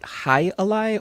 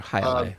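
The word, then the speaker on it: jai alai: It is a world sport that I don't know if they pronounce it Jai-alai or Jai-alai, but it's spelled Jailai. I don't think you pronounce the J.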